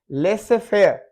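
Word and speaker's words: laissez-faire: Y silent है। Prayer दुआ करना, नमाज अदा करना, प्रेयर नमाज दुआ। और जेड में है लेसे फेयर, लेसे फेयर और रेंडवो, रेंडेवू, रेंडेवू, रेंडेवू ये है मीटिंग या अपॉइंटमेंट, रेंडेवू।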